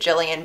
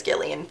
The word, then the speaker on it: Gillian: her right name wrong I know that 99% of people with their name like this say it Gillian but I've seen in reviews or interviews that she says Gillian so that's what I